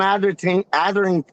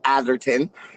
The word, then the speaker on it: Atherton: Hey, Kieran, Athers, Tom Atherton. See, I said it right, Tom Atherton.